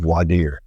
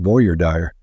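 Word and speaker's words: voir dire: really choose a jury it's called Vader some people call it Voyer dire because of the way it's spelled that's V deer V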